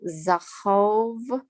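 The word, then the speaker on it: זהב: i hate it and it's called zahav and zahav means gold but it's a color of honey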